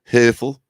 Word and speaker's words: Herthel: Herthel is roughly how it should be pronounced, I suppose, in the German vernacular.